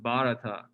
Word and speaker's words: Bharata: do you pronounce that the h is sort of silent so it's just bharata and i think the